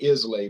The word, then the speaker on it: Islay: in scotland i love isla looks like islay but they pronounce it isla yeah i'm like you